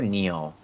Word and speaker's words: Nioh: Um, how is this game pronounced? Neo or Nio? Neo. Cuz it's Japanese. Neo.